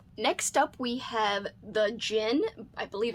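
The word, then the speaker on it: Djinn: up we have the gin i believe it's how you say it i think the d is silent by graham masterden this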